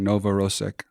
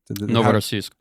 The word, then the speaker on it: Novorossiysk: I read that 18 surface vessels from Sevastopol to, and I'm going to say this wrong, Novorossiysk. Novorossiysk.